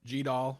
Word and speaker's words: GDAL: So GDAL or GDAL or GDAL, you might hear it pronounced lots of different ways in many different languages, is the Geodata Abstraction Library or Geospatial Data Abstraction Library.